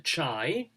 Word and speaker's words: Chi: was for Sega Delta chai um that's pronounced Kai is it not is it Kai Chi is Kai it's Kai Kai yeah it's K it's